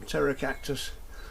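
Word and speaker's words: Pterocactus: And here we got some terra cactus. That's spelled with a P.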